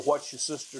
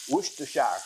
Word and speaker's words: Worcestershire: One little shot and one little teaspoon of the What's Your Sister sauce. Ain't that how you say it? That's what's how your you sister? say it. Yeah. Worcestershire.